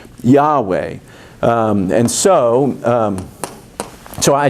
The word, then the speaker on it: Yahweh: and said so how in english would you say the name of god you'd say it ye ho va and that's where jehovah came from it's an absolute english mistake founded on a desire to uh honor the jewish reticents to speak the name yahweh and so um so